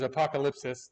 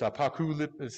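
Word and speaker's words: ἀποκάλυψις: say it again, but it's the way I've always said it is apocalypsis. That's not how you pronounce it in Greek. It's apokalypsis. It's like apokalypsis or something like that.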